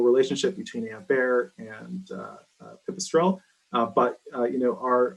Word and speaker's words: Pipistrel: the slovenian company and i don't know if this is correct my pronunciation but uh pipistrel yeah that that is the correct pronunciation for the stroll through